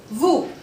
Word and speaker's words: vous: Now, the rule number 13 says that if O and U will come together, the sounding of OU becomes U. OU will become U. For example, VOUS will become VU.